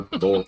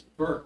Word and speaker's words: Burke: Or Bork, I'm sorry, I mispronounce it every time, You do. but I try. You recognize it after you pronounce it. That's right. It's Burke, Mr. Webb.